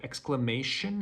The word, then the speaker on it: exclamation: sudden remark or cry the closest word in pronunciation i could come up with was hesitation so exclamation hesitation the way you pronounce t-i-o-n is shin in english language finally there was a